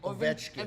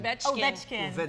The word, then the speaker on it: Ovechkin: Ovechkin. Ovechkin.